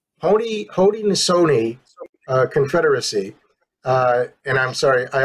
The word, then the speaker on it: Haudenosaunee: Haudenosaunee. Haudenosaunee Confederacy.